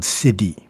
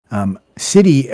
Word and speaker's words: siddhi: Within the Sanskrit community, and particularly Buddhism, is a term called siddhi. S-I or shitty, it depends on how you pronounce it. I prefer saying siddhi because shitty sounds funny.